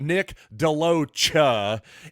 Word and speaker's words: DeLoach: by the way and I do believe that's the pronunciation we're not going to go with any more French style sha pronunciation now we're going to go with the cha so Nick deoa is a guy who